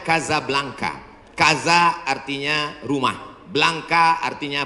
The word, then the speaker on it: Casablanca: Hasan dua di Kota Kasablanka Hai ibukota Maroko tempat saya kuliah nama negaranya Maroko ibukotanya tulisannya Casablanca cara bacanya Kadzab langka Kaza artinya rumah Blanca